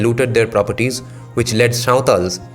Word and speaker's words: Santhal: their properties, which led Sautals, or as non-Bengali speakers pronounce, Santhals, which led Santhals then cross the border and came over to West Bengal, Mandal writes.